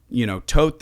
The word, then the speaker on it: Thoth: Okay, me saying Thoth is just a little bit of Western westernization.